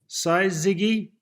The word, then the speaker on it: syzygy: I've got to try and pronounce this correctly. Syzygy.